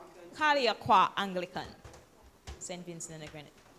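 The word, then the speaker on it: Calliaqua: Um we have Lica Miller and Kathleen Jack Pin from what do you pronounce it? Kaliaqua Kaliaqua Anglican St.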